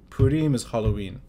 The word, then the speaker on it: Purim: you'd take me to Purim service in the synagogue. And you made it very easy for me to understand what Purim is. I hope so. Am I saying it right, Purim? It's Purim, but yeah, you can...